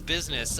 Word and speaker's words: BizSnes: I've heard like BizSnes, BizSnes, because people don't pronounce it the European way, even though I'm from, like I said, Milwaukee, Wisconsin, and it's the way that I've always pronounced it. So, because it's like Ness from Animal Crossing, or not Animal Crossing, fucking Earthbound.